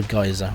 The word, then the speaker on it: geyser: over here there is a fire geyser or giza depending on where you come from your pronunciation and so on so forth and these